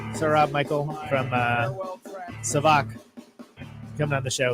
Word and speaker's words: SAVAK: now all savak savak god if i've been saying it wrong i think it's savak and i should have maybe